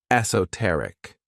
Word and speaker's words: esoteric: The next word, which is another one of my favorite adjectives, is esoteric. This word has 4 syllables, and the stress is on that third syllable, esoteric.